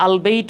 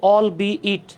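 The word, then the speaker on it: albeit: অনেকে এটাকে আলবেইট বলে। উচ্চারণ হচ্ছে অল বি ইট। দেখেন জিনিসটা ছিল এরকম। অল প্লাস বি প্লাস ইট ইকুয়াল হয়ে গেছে অলবি ইট।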